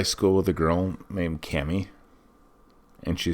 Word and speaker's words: Kami: So, the first one that we're talking about today is, I believe it's pronounced Cami. Some people say Kami.